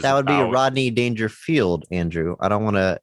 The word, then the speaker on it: Dangerfield: um which is that would be a Rodney danger field Andrew I don't want to issue an apology